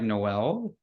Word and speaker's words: Noel: your name right yeah it's actually pronounced um like Christmas like Noel so it's like a Noels art yeah oh okay um